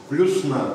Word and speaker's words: плюсна: Плюсна, только ударение на «а» делается.